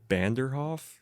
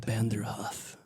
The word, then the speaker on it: Vanderhoff: when i tell people my last name i used to mumble real a lot when i was younger and people thought i would say banderhof and so when they would go out to spell it they'd do a b and it would just